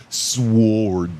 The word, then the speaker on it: sword: You're not supposed to say the W in sword.